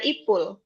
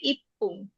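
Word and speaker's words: いっぷん: bahasa jepangnya apa i jadinya ipung ipung bukan ipul Tapi ipung ya.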